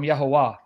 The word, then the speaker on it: Yahuwah: for not a three a three-syllable word not a two-syllable you don't get Yahweh from Yahoo but you do get Yahoo from yahuwah or when you say